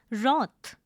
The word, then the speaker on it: wroth: The next word is wroth. It is a noun. The pronunciation is wroth. It is mono syllabic. Please note the w is silent.